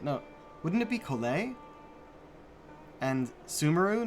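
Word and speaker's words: Collei: them how they look like they should be pronounced, and then they do this, like, Kale! No, wouldn't it be Kole?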